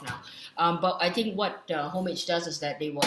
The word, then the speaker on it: Homage: Oh, I've also recently learned it's pronounced as Homage, not Homage.